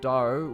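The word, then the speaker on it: Drao: It is spelt D-R-A. Then there's D-R-A-O, Daro, which is for one who has achieved excellence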